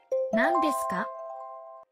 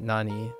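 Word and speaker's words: 何: that okay okay nand Nanda sure comes at the end of a sentence in this case uh Nani is pronounced Nan and not Nani this is an exception mhm okay okay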